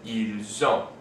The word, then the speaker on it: ils ont: have this situation where, because the verb starts with a vowel, the S of the word before it is pronounced as part of that word with the vowel. So we have nous avons, vous avez, and ils ont.